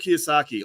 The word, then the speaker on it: Kiyosaki: why am i why am i saying his name wrong um kiyosaki robert kiyosaki there we go boys let's get it right robert kiyosaki author of rich dad poor dad actually gave